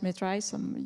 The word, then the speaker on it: MedRiSSE: I pronounce it MedRiSSE, you pronounce it differently, in November, I think 2 years ago.